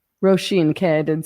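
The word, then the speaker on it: Róisín: You recently wrote an article about I might pronounce her name wrong. The Irish singer Roy, how do you Roen Murphy? How do you say her name? Pardon? Rosheen. Roshene.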